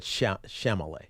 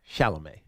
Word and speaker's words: Chalamet: You said Chalamet. Whatever. Chalamet.